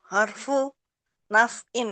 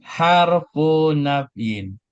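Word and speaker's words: حرف نفي: In harfu nafyin. Perhatikan cara bacanya. Harfu nafyin.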